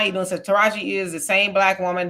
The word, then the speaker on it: Taraji: You ain't gonna say her name right at all. Like, say it with me. Taraji, Deontay, Chiquaqua.